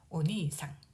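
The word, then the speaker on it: お兄さん: 니를 보면은 이 모음이 연속으로 와서 이 장음으로 발음하면 되겠습니다. 오니상, 오니상.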